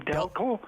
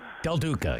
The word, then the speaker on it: Del Duca: I think you pronounce his name Delco? Del Duca, yeah.